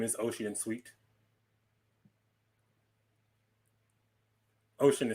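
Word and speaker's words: Ossian: uh my name is ocean sweet what is it again i'm sorry uh my name is ocean sweet ocean is spelled o-s-s-i-a-n by gordon bennett my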